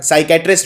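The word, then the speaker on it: psychiatrist: exam में आती है क्योंकि स्वैपी साइलेंट होता है जो कि साइकैटरिस्ट जब हम बोलते हैं तो इस आई पी नहीं पिक्चर उच्चारण नहीं किया था तो एक गलती तो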